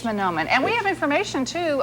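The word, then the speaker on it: Mahnomen: 19th through the 20th manomen is that correct the correct way to pronounce that town Minnesota I think it's I think it's manomen and we have information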